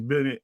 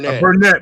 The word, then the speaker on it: Burnett: So technically, what Cornelius Bennett is saying It's Burnett. Burnett. I got you, bro.